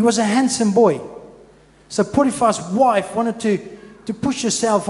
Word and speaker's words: Potiphar: That correct pronunciation? Potiphar. Potiphar. Afrikaans, for those who wanted to know.